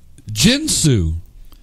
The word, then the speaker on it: Ginsu: you say more as I've always said jinsu but I you have I have heard Ginsu more of the hard G I'm the Ginsu I